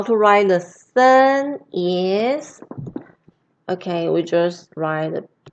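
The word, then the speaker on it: 森: so many moo right this character is pronounced as sun and as you can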